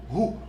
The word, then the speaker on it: who: Who? Who let the dog out? Who? C'est pas who, mais c'est who.